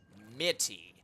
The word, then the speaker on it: Mitty: main opponent's name incorrect His official name is Mitty pronounced like the word mint I know this because